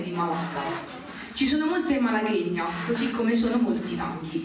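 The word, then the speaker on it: Malagueña: Allora, la prima rappresentazione di pianoforte di Nadia Mocciola, Malaghegna, vero, si pronuncia così.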